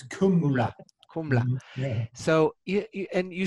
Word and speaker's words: Kumla: Gumla? It's Kumla.